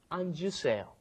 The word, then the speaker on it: 앉으세요: If you just say it when it's up against another consonant, it comes out anta, but then when it comes in front of another vowel, you end up pronouncing the J sound at the end. It comes out 앉으세요.